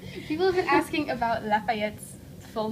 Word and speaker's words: Lafayette: and most of the world we call him Lafayette all one word pretty easy to pronounce although people in the South call him